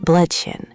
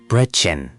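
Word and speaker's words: Brötchen: ब्रोटचेन. अच्छा प्रयास। "ö" ध्वनि थोड़ी जटिल है। यह कुछ ऐसा है जैसे आप गोल होंठों के साथ एक लंबी "ई" ध्वनि का उच्चारण कर रहे हों।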